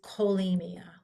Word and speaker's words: cholemia: If we have C and H, they sometimes sound like K. So this we pronounce cholesterol, not like a K. Sorry, that's a bad K. Cholesterol, not cholesterol. This is pronounced cholera. And this is cholemia, like a K sound, hard K.